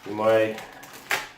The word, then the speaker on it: UMAi: I don't know if you know about these money and that's how you say it great bags